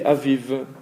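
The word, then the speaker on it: אביב: fin d'un mot donc quand vous avez la lettre bête à la fin d'un mot vous ne direz jamais B c'est toujours ve exemple le printemps se dit avive Alf avec avec un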